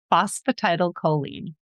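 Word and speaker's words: phosphatidylcholine: Phosphatidal choline.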